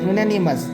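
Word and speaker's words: unanimous: Okay, सो यहाँ पर हालांकि ये वॉवेल से वर्ड्स शुरू हो रहे हैं, okay, this words begins with vowel, but इसका जो स्टार्टिंग का जब प्रोनाउंसिएशन करते हैं तो वो य की तरह हो जाता है।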